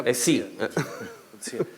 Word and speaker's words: Coetzee: Lo que pasa es que se pronuncia Coetzee.